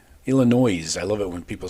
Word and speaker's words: Illinois: Number 21, USC going east to face number 23, Illinois. Illinois. I love it when people say Illinois. That S is silent, I think.